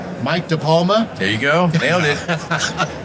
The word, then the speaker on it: DePalma: I have with me, first, I'm going to pronounce his name absolutely correctly, Mike DePalma.